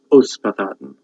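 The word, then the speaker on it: Ysbaddaden: So in the tale of Kilwch and Olwen, the giant in the tale, Olwen's father, is Uspathaden, even though it's written with a Y.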